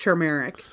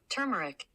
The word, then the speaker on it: turmeric: Kelly it's pronounced tur it's actually says it's pronounced turmeric with an R have Siri say it back to you hold on I can do it right here turmeric so it's turmeric we're both wrong man